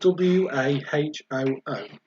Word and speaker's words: wahoo: That is spelled W-A-H-O-O. If anybody was wondering how it's pronounced, but it looks like wahoo.